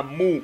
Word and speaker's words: Mu: Yo entiendo que se equivoque en una palabra, pero estamos hablando ya de un nombre, de una sílaba, men. O sea, se llama Mu. El castillo de Mu.